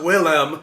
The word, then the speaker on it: Wilhelm: wilhelm or i'm saying i'm saying william but it's pronounced willem in swedish i guess but it's really about